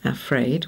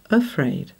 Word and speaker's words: afraid: or ade afraid well we don't usually say afraid we usually go afraid or here travell we